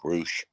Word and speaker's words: Rush: going with Russia or rush or whatever you want to say his name is it's spelled r-u-s-h it's Rush okay but I'll call him what they call him on TV Rouge and uh I don't